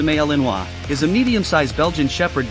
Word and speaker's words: Malinois: about this breed the Belgian Malinois pronounced a maleenwa is a medium-sized Belgian